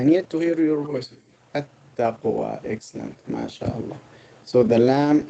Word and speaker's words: التقوى: Is a sun letter, the whole like a shams, so the lam will not be pronounced.